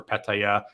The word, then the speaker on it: Pattaya: Yes, I know the proper Thai way with the tones, Pattaya, but I like to say Pattaya, Pats, P-Town.